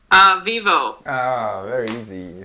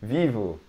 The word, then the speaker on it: Vivo: some well usually we the letter O for us in the end of a word we don't pronounce o we pronounce oh yeah believe it or